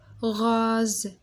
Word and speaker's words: rose: rose الاس كي يكون قدامها فوايل وموراها فوايل ما نطقوهاش اس نطقوها زد.